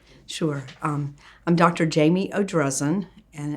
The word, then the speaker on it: Jamie Odrezin: have all that correct sure um i'm dr jamie o'drezen and it's spelled j-a-m-i-e-o-d-r-e-z-i-n okay what was your doctorate doctorate